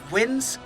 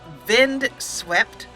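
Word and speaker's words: Vindsvept: a YouTube artist called wind vind swept spelled with V's not W's you can see the links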